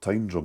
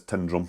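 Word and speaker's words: Tyndrum: To me it's like Tin and weir down in England, but it's not. It's Tindrum. It's how you say it.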